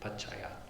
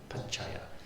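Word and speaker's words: paccaya: I think Paya. Paya. So there you have two C's and you're pronouncing both of them and they both have that J sound.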